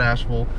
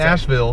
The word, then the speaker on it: Asheville: Tony's gonna give us a little tour of Asheville in his little car here.